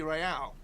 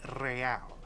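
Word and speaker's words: réal: you owe me 130 Royale what's Royale oh excuse me you owe me 130 real he pronounces the r with a mock aristocratic accent the I or inter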